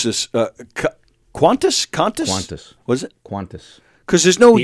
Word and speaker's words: Qantas: Qantas. Because there's no the U. only Q without a U after it. Yes. But it's still pronounced Qantas. Qantas.